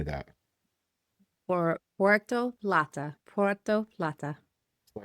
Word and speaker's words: Puerto Plata: Puerto Plata.